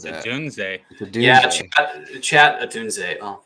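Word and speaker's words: Odunze: Yeah, what if we take Roma Duns and then we just queue up taking Caleb Williams later Duns?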